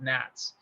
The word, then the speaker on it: NHATS: flight accessible targets study or nhats was the acronym we pronounced it nats and um and it